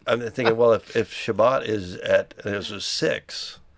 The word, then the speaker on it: Shabbat: how they say it Sabbath Shabbat I was in Tiberius right